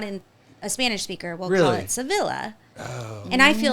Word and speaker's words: Sevilla: to it but yeah or like Sevilla is Sevilla Spain but I refuse to say Sevilla because that just sounds like tortilla oh like it's supposed to be if you're in Spain the city is called Sevilla oh because there's it's yeah